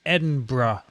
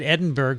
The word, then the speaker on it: Edinburgh: of edinburgh which is i've learned to say it properly correct vince good i said edinburgh for the longest time and a guy actually sent me an email from scotland he said please you're driving me crazy edinburgh that's a